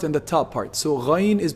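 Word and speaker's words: غين: Ghayn. Ghayn is pronounced from the highest part of the throat, the top part of the throat.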